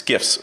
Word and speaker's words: GIF: And for half your audience that is thinking I'm pronouncing it wrong, no, I'm not. It's GIFs.